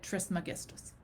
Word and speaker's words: Trismegistus: a Greek word, and the Greek person who said it said Trismegistus. So I go with the hard G in there.